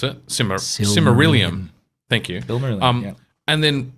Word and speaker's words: Silmarillion: of the similarium or similarium whatever however you pronounce it similar simarillium thank you um and then just write a